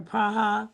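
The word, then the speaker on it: Praha: So, my grandfather was born in Prague or Praa, that's how they say it.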